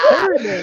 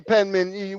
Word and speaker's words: Penman: No, you called my name wrong. You said Perryman. I'm not Perryman. Okay, Penman, we still cool.